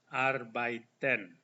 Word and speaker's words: arbeiten: Ini dibaca R, EI dibaca I. Arbeiten. Arbeiten.